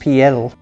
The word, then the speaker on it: Piel: His last name in Spanish would be pronounced Piel.